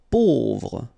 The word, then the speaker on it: pauvre: Pauvre, A-U together will produce this O sound, pauvre.